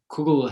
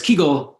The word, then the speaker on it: kugel: So kugel is the pronunciation which I guess has taken a very strong foothold in English. But kugel has traditionally been the pronunciation of the word among Litvaks, Jews of Lithuania, northeastern Poland, and Latvia, among as well as Belarus. Whereas Kegel is the domain of all of Southern Yiddish, including where I'm from in Ukraine.